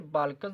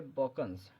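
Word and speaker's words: Balkans: ये word बाल्कन्स नहीं है, ये वर्ड है बॉकन्स।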